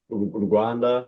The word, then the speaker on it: Rwanda: Rwanda, but I usually say Wakanda because it rhymes the same as Wakanda and the vision, the mission, it's like, you know, we're pushing and turn into Wakanda.